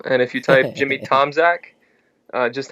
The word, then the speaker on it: Tomczak: hard to spell it's it's Tom Che polish if uh if you're polish but we we just say Tomac whatever and so my